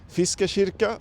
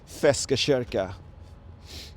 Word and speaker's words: Feskekörkan: And actually, the correct way to say it in Swedish is Feskekörkan, but Gothenburgians have a certain way to pronounce certain words. So we call it Feskekörkan.